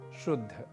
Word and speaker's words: शुद्ध: लग जाते हैं तो जैसे एक शब्द है शुद्ध जिसे हम और आप शुद्ध या जहां पर ध पहले और द बाद में इस रूप में हम प्रयोग करते हैं और कई बार इसे